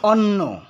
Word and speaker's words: অন্ন: যখন এই শব্দটি হবে অর্থাৎ ভাত অর্থ হবে বা খাবার বা খাদ্য অর্থ হবে, তখন এই শব্দটির উচ্চারণ হবে অন্ন। ভাত অর্থ হলে অন্ন উচ্চারণ হবে।